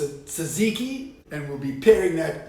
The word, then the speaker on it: tzatziki: a Tucker suckish toast now in Greece they pronounced a tzatziki and we'll be pairing